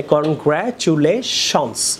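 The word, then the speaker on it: congratulations: তাহলে কনগ্র্যাচুলেশনস, don't say কনগ্র্যাচুলেশন। High Rasel, কনগ্র্যাচুলেশনস এস বলবেন, শনস, don't say Shaun.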